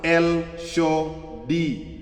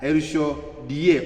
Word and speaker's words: El Shaddai: Pronounced El-Sho-Di, die, El-Sho-Die, or die with D-I-E.